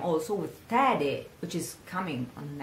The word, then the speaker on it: tede: So, oh, nuziali, nuziali, nuziali, nuziali tede, rhyming with piede.